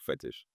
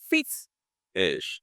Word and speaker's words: Fit-ish: So I need to learn how to pronounce it well so I can separate it. Fit. Ish. Take a breath. Ish. Yeah. Right? So I can't say it together. No. Fit. It's ish.